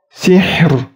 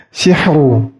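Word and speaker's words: سِحْر: Contoh bacanya sihr, sihr, sih. Ingat, ha sukunnya harus dibaca jelas dan ro sukunnya dibaca jelas. Sihr. Dan ini harus ditipiskan. Tidak boleh tebal. Misalnya tebal sihru, sihru.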